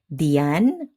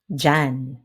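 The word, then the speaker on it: diyan: This happens in other words too like in sometimes sounds like or dian or dian can come out as jan and sia or sia might be heard as sha.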